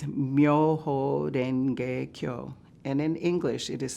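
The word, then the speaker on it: 妙法蓮華経: The Japanese pronunciation is Myoho Renge Kyo, and in English it is simply known as the Lotus Sutra.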